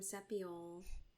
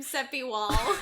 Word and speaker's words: Sepiol: I think the other thing is, in terms of Sam Sepiol, that's how you say it, by the way. Whatever. Not Sam Sepiwal.